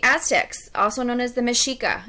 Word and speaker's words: Mexica: also known as the Machiko it's pronounced with an SH and not make caecus that is because of the way the language is spoken the Aztecs are gonna